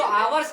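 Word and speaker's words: hour: मिलेगी यहां पर जो आवर्स का मतलब इसे जो इसका उच्चारण है अगर देखा जाए जो लिखा यहां पर है चच लेकिन जो इसका उच्चारण हो रहा है वो हम लोग आवर करते हैं इसीलिए यहां पर आर्टिकल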